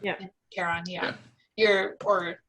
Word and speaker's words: Charon: Is that how you pronounce it? Charon, yeah.